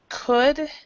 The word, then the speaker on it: could: Okay, so remember that this word could does not have the L sound. So we actually pronounce it kind of like this. I'm going to make it small. Could, but no L.